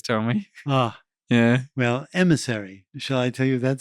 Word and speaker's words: MSRI: and he said well if you pronounce the letters rather quickly and with the french accent msri it sounds like emissary so let's call it